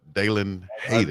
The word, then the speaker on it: Dalen Hayden: That's a tough name to say right there. It's kind of tongue twisting, but Dalen Hayden. You got to say it like that.